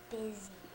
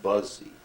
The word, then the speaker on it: busy: word bu u y busy now if you use that phonetically it would be Buzzy wouldn't it busy bu